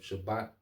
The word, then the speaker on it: Shabbat: the Hebrew is um Shabbat all right Shabbat okay um it going to it all right so it's not spelled like shabbath all right like the Sabbath but the Shabbat okay um so let's